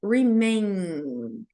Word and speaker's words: remain: Quando a gente falar o N no final das palavras, diferente do M, aqui eu vou deixar minha boca aberta. Remain calm. E o M eu vou fechar. Então, remain calm.